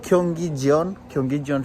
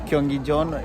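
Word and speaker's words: 경기전: It's Gyeonggijeon. It depends on how you pronounce, but it's more of like Korean way of pronunciation.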